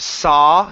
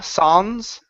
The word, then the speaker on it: suns: word Sons right here instead of sa Sons it's an uh sound s Sons Sons good